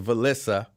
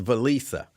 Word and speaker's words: Valisa: Uh I said I thought it was Valissa. She says no, it's Valisa.